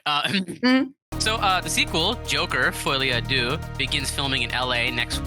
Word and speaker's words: folie à deux: Folie à deux. Shut up. I think it's folie à deux because that's Folie à French.